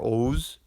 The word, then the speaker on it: Oğuz: The Turkic language family is broken into the Oğuz branch, spelled Oguz, but it's pronounced more Oğuz branch, and that includes, of course, what you hear Turkic.